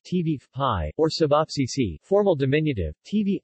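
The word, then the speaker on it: ćevapi: not other meat cuts cevapi cevapi pronounced TV pie or cevapcici formal diminutive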